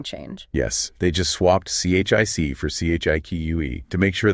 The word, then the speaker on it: chic: They initially called themselves ABBA Chique, spelled C-H-I-C. They wanted that French pronunciation, chic.